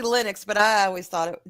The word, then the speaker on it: Linux: our Focus spot says want to pronounce it lenux lenux Len lenux Len well yeah it's it's actually Linux but I always thought